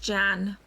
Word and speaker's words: Jeanne: Oh, that's how you say it in French, Jeanne. But it's like Joan over here.